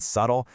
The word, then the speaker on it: subtle: The silent K in night, the P in psychology, the B in debt and subtle.